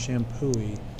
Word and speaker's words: Champoeg: Park it's spelled a little weirdly shampoo wig pronounced shampooy so go check it out it's just a